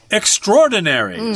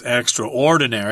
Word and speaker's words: extraordinary: that we're describing as Extraordinary. Some people will pronounce this word as extraordinary. I don't like that. It's considered okay, but most people say extraordinary, which basically means,